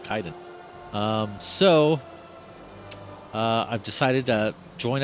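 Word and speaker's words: Kaidan: I found his proper pronunciation is Kaiden because he'll say it later, or other NPCs that know to speak his name say his name properly as well. I was saying Kaiden for the longest time. It's like, oh, Kaiden. Oh, nope, it's Kaiden.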